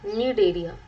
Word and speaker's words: Cnidaria: अब जनरली ये जो नीड एरिया होता है, सी इज साइलेंट नीड एरिया, ये कैसे होते हैं, दीज आर अक्वाटिक, पानी में मिलते हैं, mostly marine and फ्यू are fresh water.